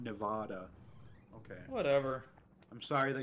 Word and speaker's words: Nevada: It's pronounced Nevada, not Nevada.